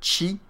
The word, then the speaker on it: Qi: la technologie qui s'appelle chi qui s'appelle chim ça s'appelle ch et ça s'écrit QI en fait c'est une